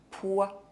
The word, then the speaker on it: poids: Some words have more than one silent final consonant. Le respect, un doigt, le poids, le corps, le temps.